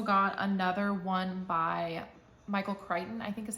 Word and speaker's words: Crichton: and i also got another one by michael crichton i think is how you say his last